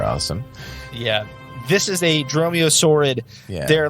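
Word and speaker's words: dromaeosaurid: you about the weaknesses it is called a dromiosaurid d it's spelled strange d-r-o-m-a-e-o-s-a-u-r-i-d it is a dinosaur but they're freaking awesome but they're freaking awesome well dinosaurs are awesome yeah this is a dromeo sword they're like they're kind of like raptors they're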